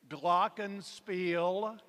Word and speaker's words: glockenspiel: Okay, I'm going to give you 2 pronunciations on this word. Glockenspiel and glockenspiel.